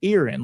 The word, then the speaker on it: Erin: Folks around here, and some that I know up that way, they pronounce it Erin, like you've got an ear as Erin.